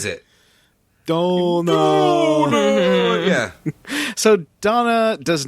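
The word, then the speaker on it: Dona: the youth league uh but oh it is pronounced donna i always think it's donut but it's dog yeah like they say it no it's because of the way the guy says it don't know yeah so donna does not want to get involved in the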